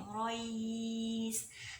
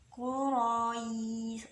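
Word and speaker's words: قريش: Jadi cuma ngikutin Quraish, tapi dibacanya sampai 4 atau 6 harkat ya. Quraish. Ro itu kan fathah. Nah, kemudian bertemu sukun aridi, ketemu ya Quraish, Quraish.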